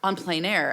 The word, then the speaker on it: en plein air: Yes, En Plein Air.